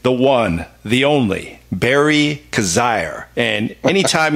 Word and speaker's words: Coziahr: one the only berry cos ire and any time your name rhymes with on fire you know you got